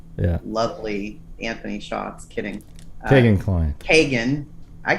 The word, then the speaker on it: Kegan: yeah i was saying keegan too but i i keep hearing it pronounced kagan by like people that know him you know so i